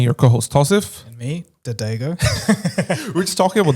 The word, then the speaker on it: Dagogo: And a common one I get is Dagogo, which is Dadago.